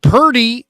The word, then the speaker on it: Purdy: how about this Mike how about Purdy rhymes with 30 like they only score 30